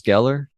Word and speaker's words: Geller: this one oh me too Sarah yeah Michelle Geller gallar I hate when people do that what